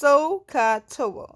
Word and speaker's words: SOHCAHTOA: and pronounce this so this hair is actually pronounced sohcahtoa okay so katoa I'm just gonna leave this